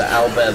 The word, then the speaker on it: Albert: I was totally into Alber the fifth musketeer and that's Albert pronounced French not DND D enemy you